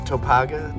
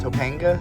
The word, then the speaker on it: Topanga: not gonna correct you is it topaga Topanga yes Topanga we made it through Topanga uh to Mulholland